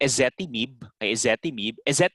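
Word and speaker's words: ezetimibe: symptoms next we have essetti mib is the correct pronunciation here that is so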